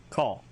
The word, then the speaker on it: kal: KAL, call.